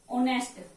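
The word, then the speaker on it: honest: एक होता है अगर साइलेंट वर्ड है कुछ, क्या होता है, साइलेंट, जैसे ऑनेस्ट, ऑनेस्ट, इस तरीके से। वैसे तो आपको दिखने में है नहीं बोला जाएगा, ये क्या बोला जाएगा, ऑनेस्ट, ऑनेस्ट।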